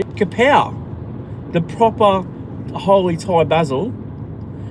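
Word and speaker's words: กะเพรา: I got some I went to the markets on Sunday after my walk and I got some capri Let's say it properly. Kapow, the proper holy Thai basil.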